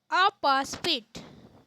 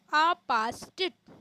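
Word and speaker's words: apostate: आपास्पिट, इसका सही उच्चारण होगा आपास्टिट। अपने मत या धर्म का त्याग करने वाला व्यक्ति।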